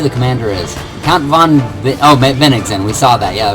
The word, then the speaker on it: Bennigsen: Count von Bennigsen. We saw that. Yeah, that was one person I had difficulty pronouncing. I was saying it like Bennigan's, like the restaurant.